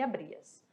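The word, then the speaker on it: abrías: Outro detalhe, galera, o H, vamos lembrar que ele não tem som em espanhol, ele é mudo, então fica abria, aria, tá bom? Não ficar raria ou rabria, vai ficar com som neutro, abria e abrias, certinho? Eu trouxe para vocês uma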